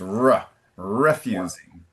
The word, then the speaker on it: refusing: Okay, you gave us a soft R. hew refusing. In English, it's a hard R. Particularly at the beginning of the word, so it's r- refusing.